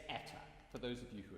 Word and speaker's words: Eta: I'm going to think, as an English speaker, I'm going to think of the word day. So I've sung dan, I'm now going to sing day, day, day. It's eta, for those of you